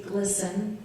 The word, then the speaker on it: Gleason: From what I understand, it's supposed to be glisten, rhyme with listen.